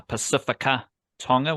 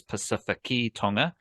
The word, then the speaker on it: Pacific Tonga: And uh I'll I'll give them a pass for saying uh Pacifica Tonga when his name is Pacific Tonga.